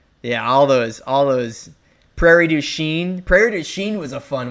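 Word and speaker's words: Prairie du Chien: Prairie Duchene.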